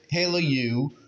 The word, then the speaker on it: Hailuo: lead at number one I would say h Halo you h a which again is spelled h a i l uo Halo U and pix verse and number three runaway and